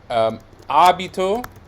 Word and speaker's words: abito: So if you have a word like abito is this sdrucciolo, right? Because the stress is on the antepenultimate syllable, abito.